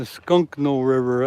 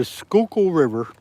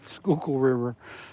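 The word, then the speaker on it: Schuylkill: The Skunkno River. That's not That's not right. But nice try. It's the Skookul River. It's spelled. It's spelled S C H U Y L K I L L.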